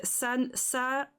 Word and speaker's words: ça: But yeah, so it's a ça. So ça is like sa. You pronounce it like if it was sa.